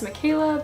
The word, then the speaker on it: Michela: can ask my name but it's Mikayla because it's the Italian spelling I could get in